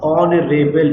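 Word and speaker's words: honourable: सबसे पहली बात, ऑनरेबल, इसका उच्चारण पकड़ो, ऑ, इसका उच्चारण क्या है ऑनरेबल, ऑ। ठीक है, ऑ।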